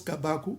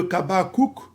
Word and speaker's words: Kabakou: Il n'a pas compris que la consonne finale en paléo-hébreu ne se prononce pas. Donc, au lieu de Kabakouk, c'est Kabakou.